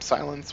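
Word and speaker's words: SiL3X: We're gonna go ahead and name him Silence, which is how you spell it, S lowercase I L 3 and X. So there's Silence.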